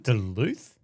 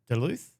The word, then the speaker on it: Duluth: Isn't it Duluth? Isn't that how you say it? Duluth? I'm pretty sure.